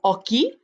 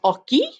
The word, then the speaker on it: hockey: Le weekend, j'aime jouer au hockey. Notice how I didn't pronounce that H. Repeat after me. Jouer au hockey.